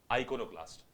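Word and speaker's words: iconoclast: शब्द क्या लिखा है आपका बेटा शब्द है आइनो क्लास्ट द वर्ड इज आइनो क्लास्ट एक बार करेक्ट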